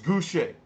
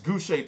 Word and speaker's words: Gausha: Now, some people were giving me some shit saying I was pronouncing his name wrong. I interviewed him. I'm going to be uploading that video, about maybe 2 or so videos after this one. It's Gausha. It's Gausha, Terrell Gausha.